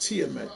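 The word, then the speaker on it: Tiamat: It is pronounced TMT.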